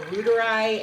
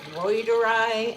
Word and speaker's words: reuteri: I was pronouncing it L. reuteri, and I have heard that the Latin is reuteri.